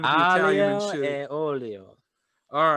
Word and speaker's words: aglio e olio: We were going to make pasta dell'olio. I believe that is how you pronounce it, but it's probably not. And it's from Chef. Aglio e olio.